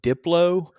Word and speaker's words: Diplo: Uh I don't know who is it pronounced Diplo.